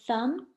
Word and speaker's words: thumb: is silent another example in the word thumb B is silent or comb B is